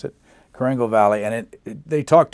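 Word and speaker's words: Korengal: recognition of blunder and it's the is it pronounce the valley it's Kangle that's the way you pronounce it Kangle Valley and it they talked to a the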